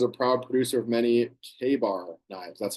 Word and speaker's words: Ka-Bar: Cutco is a proud producer of many Ka-Bar knives. That's how you pronounce that. You want to write down K-A-Y above that, just so you remember.